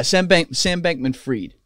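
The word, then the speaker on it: Sam Bankman-Fried: Sam Bankman Freed.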